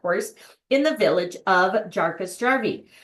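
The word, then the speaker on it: Jukkasjärvi: in the village of jaras jari pronounced yasavi uh try saying that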